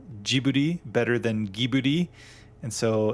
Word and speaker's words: Ghibli: Fun fact, it's the same thing with the word Ghibli, Ghibli, like Studio Ghibli, but it's technically Ghibli.